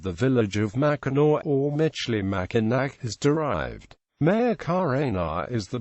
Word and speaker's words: Michilimackinac: The French spelled it with the version of the original pronunciation, Michilimackinac.